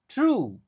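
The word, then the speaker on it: through: Jadi, O-nya sama sekali enggak dibaca, G-nya juga enggak dibaca. yang dibaca true, H-nya juga enggak dibaca. Yang dibaca tuh cuma true aja, TR gitu cara pengucapannya.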